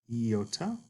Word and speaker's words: iota: And iota is pronounced like a long I, as in the word machine. Machine. Some prefer to refer to this like a double E sound. E, as in meat. But otherwise, we talk about it as a long I sound. Machine. E, E.